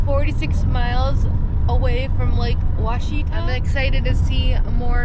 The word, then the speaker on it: Ouachita: So according to Google, because we needed to ask Google, the lake we're going to, Lake Ouachita, I would have never guessed that's the way it was pronounced based on the spelling.